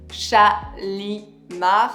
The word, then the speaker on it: Shalimar: And he has something a little bit oriental also in the name, but in France we pronounce Shalimar.